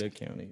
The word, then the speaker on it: Ada County: It's actually pronounced Ada County. It's pronounced Ada.